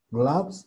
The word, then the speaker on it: gloves: Acuérdense que para pronunciar esta A hueca, lo que tenemos que hacer es hacer una especie de O y al hacer la O tenemos que sacar el sonido de la A.